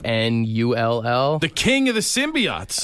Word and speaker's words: Knull: in the movie is a character called null it's spelled k n u l l the king of the